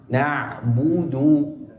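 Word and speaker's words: نعبد: Jadi kalimat na'budu di huruf dalnya jangan seakan-akan seperti kita menambahkan huruf wau tasdid. Cukup nabudu wa iyaka. Jangan na'budu wa iyaka.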